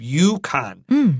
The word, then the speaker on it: Yukon: how to say this this U is like y you YouTube Yukon and then O is a short o Yukon is a local